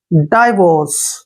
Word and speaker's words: divorce: पे क्या करेंगे, ड, और आई को आई ही पढ़ेंगे, वीओ को वो पढ़ेंगे ऐसे, और आर को रे और सीई को से पढ़ते हैं। आर यहाँ पर ऊपर लगा देंगे ऐसे। डाइवोर्स, देखिए डाइवोर्स, डाइवोर्स होता